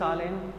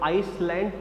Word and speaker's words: island: Dived of a dock eight tricks आइलैंड. Tricks आइलैंड, the pronunciation of ISALAND इज नॉट आइसलैंड, इज आइलैंड.